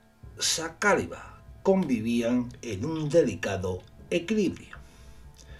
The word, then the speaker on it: Saqāliba: los reinos de taifas creo que se pronuncia saliba Espero que lo haya